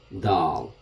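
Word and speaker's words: دال: of the letter is dal like a duck the d like duck dog okay so dal is pronounced as the so this letter we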